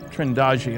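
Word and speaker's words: Trindade: And here's a sequence from Trindadi. Trindagi, I'm told it's pronounced, 600 miles east of the coast of Brazil.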